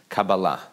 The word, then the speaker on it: Kabbalah: tell you that Hebrew the traditional Hebrew way of pronouncing the word is Kabbalah Kabalah is a Hebrew